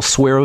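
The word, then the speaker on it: Suerovie: you're miserable when you're fasting do a little Saro V get yourself some of that SAR of v and maybe do half a bottle every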